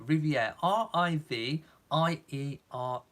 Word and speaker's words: Riviere: i'm sure that's how you say his name Riviere our IV ie our e as I said